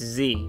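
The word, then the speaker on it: ze: So long E is just like the E sound, right? Right? Yeah. Like E, so it's Z, right? So it's just pronounced Z.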